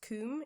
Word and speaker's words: KUM: There were also some other ones recommended, but I decided to try this one, which I believe is pronounced Kuhm.